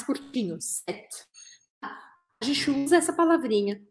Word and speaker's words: cet: A gente usa esse set. A gente fala assim, ó, set, set, quase sete, mas esse final é mais curtinho, set.